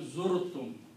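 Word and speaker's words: زُرْتُم: So in the pronunciation, this Waw is dropped out. It's not pronounced. But its sound is kept and is moved backward. So this will become Zurtum. The actual word is Zavartum. But in the speech and pronunciation, they pronounce Zurtum.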